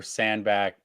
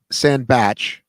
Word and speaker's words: Sandbatch: So, yeah, I had it Ronco, JK, Hunter, Sandback, Paleo. I think you said it was Ronco, Sandback, JK, Hunter, Paleo. It is, in fact, Sandbatch, but you basically say